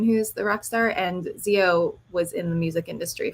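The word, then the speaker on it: Xio: Zio is spelled with an X, which is why I chose this.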